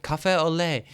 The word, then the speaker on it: café au lait: as people describe it, café au lait. How the hell do I pronounce Café it? au lait. I did French in GCSEs. I can't remember. Café latte? Café lait? Café au lait.